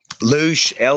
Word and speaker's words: loosh: But what is it now? Loose? Loosh, Loosh, Loosh harvested.